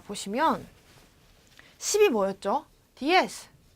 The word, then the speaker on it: diez: 자, 요 발음 뒤에 쌍시오 소리가 나죠? diez.